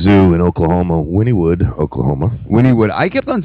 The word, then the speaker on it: Wynnewood: Wynnewood. I kept on saying Winewood. So did I. I kept on saying Winewood. Winewood. That's what it looked Wynwood, like. Yeah. How it's spelled.